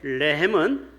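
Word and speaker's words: רחם: 여러분이 국휼이라는 레헴. 레헴은 예루살렘 할 때 발음하고 비슷하죠. 레헴.이 말은 자궁이라는 뜻이에요.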